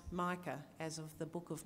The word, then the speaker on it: Micah: So he's Gavriel Mika, and we named him Mika because that is how the Papuans pronounce Micah, as of the book of Micah in the Bible.